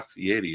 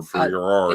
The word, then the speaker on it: Fieri: has Carnival paid Guy Fieri over the years? Or Ferrari, it's Fieri, you said it right.